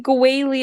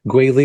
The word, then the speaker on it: Guili: Guili is their power couple name. Yeah. Yeah, it's the first syllable of Guizhong and the last syllable of Zhongli.